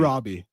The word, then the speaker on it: Robbie: I also had Margot Robbie, and Is it Roby or Robbie? Robbie.